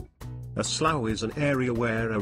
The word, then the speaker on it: slough: A slough is an area where a river or creek meets a larger body like a swamp that can be made up of a slough. A slough is pronounced slough and it is very similar to a swamp.